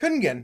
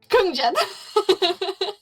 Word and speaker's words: Kungen: It's really funny because you pronounce it correctly, and they're like, "All right, Kungjen." Kung. You have like a J.